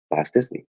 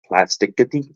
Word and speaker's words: plasticity: developing and growing new plasticity. I used to think it was called plastic, like plasticity, like, but it's plasticity.